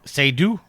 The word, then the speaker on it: Seydoux: You're going to have to help me with pronunciation there, Steven. No way. Seydoux?